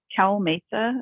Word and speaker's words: CalMHSA: Mental Health Services Authority Cal Mesa is how we pronounce it for short we are a joint